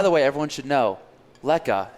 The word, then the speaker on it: lekker: way everyone should know leka it's ellie kkker pronounced lekka it's african slang word for meaning great tasty and fantastic right yeah just everyone knows it's a dutch origin we get a lot of